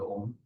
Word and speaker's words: Om: is uh from the OM uh the syllable and it has uh three uh three syllabus uh three sounds I would say uh are who and so the r represents